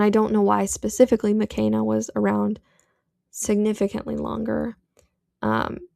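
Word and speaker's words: Makena: Now, I've pronounced her name McKenna too many times. Her name is pronounced McKenna. She is Kenyan American, and her name is Swahili. So it's not McKenna, like McKenna Brooks. It's McKenna.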